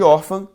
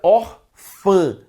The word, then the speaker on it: órfã: a pronúncia não seria Orfã seria orfa tudo bem lembre-se que estamos estudando sonoridades por isso que a pronúncia não é or fa é or fã e é por isso